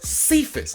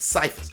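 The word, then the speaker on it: Cephus: outside of um quintess cephas uh i kept pronouncing it cyphus but quintess cephas and tj hawkinson they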